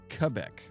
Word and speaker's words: Quebec: Quebec. Sure. Don't get it twisted, you silly American. Yeah, get your Q's in the right spot. Get your, it sounds like a K, not a Q.